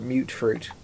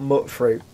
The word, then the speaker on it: mut fruit: I'm actually refusing to call it mute fruit. I've decided. I refuse to call it mute fruit. It's spelt mut fruit. Mut fruit. I'm always going to call it mut fruit.